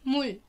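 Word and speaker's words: 물: وراه فاول بينطق راء، لكن لما بيجي نهاية مقطع بينطق لام. فلو هنقولها لوحدها مول، لكن كده موري ييو موري ييو.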